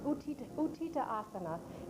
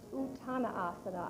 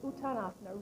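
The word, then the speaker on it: Uttanasana: Now we'll continue now with utita utita asana in this is a standing forward bend. All right. Raise the arms above the head. It's pronounced utana asana. I'm sorry. It's just utanasana.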